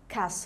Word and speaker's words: castle: castle دي معناها قلعة، والتي بتبقى silent، silent يعني احنا مش بننطقها، بقول castle، castle على طول.